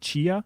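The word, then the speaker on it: Tchia: playstation showcase but that game i think it's pronounced chia yeah t-h-c-i yeah c-h-i-a game looks cool yeah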